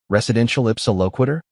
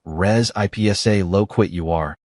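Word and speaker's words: res ipsa loquitur: Residential ipsa loquitur? Except I pronounced it like res ipsa loquit you are, instead of whatever the correct Latin pronunciation was supposed to be.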